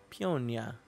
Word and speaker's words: Peonia: Peonia. It's like peony.